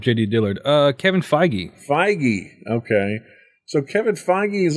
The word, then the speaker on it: Feige: determined and that's a kevin how do you pronounce his name i was looking up jd dillard uh kevin feige feige okay so kevin feige is also getting his